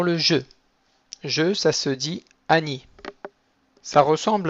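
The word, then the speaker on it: אני: un Yud pour Ni, Ani. Donc on ne traîne pas trop sur le Aleph, et le Ni un peu long, Ani.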